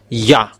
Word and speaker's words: Yah: is y h it's yah. So if we read it it's yah. Oh it becomes redder. That's it. Have this. Yeah. How to read it. Yah is the way how to read it.